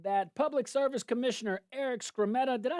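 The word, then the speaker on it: Skrmetta: So, the Hayrod's reporting um that public service commissioner Eric Scrammeta, did I say his name right?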